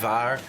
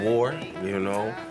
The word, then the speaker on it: WAAR: You can call it WAAR, you can call it WAR, WAAR, but it stands for wavering as a reed, and typically it would be pronounced war.